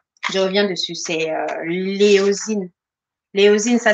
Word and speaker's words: éosine: C'est l'éosine. L'éosine, ça s'écrit E-O, non, E accent O-S-I-N-E.